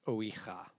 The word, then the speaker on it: Ouija: It's pronounced Ouija.